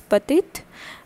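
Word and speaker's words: petits: e t i t s and it is pronounced as patit and this is what pua p o i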